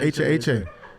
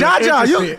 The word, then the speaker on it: HaHa: Because I'm just no, it's because you that's really Jaja. I was. Yeah, that's Jaja. Nah, but it could be pronounced HaHa.